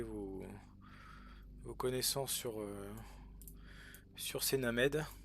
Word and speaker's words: Named: Après en commentaire, n'hésitez pas à partager vos connaissances sur sur ces Named. On prononce à la française he named. On dit pas Naimed, c'est interdit. C'est interdit.